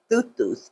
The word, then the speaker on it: Thoth: So that's why I call Thoth Thuth, okay? Because that's how you say his name, okay?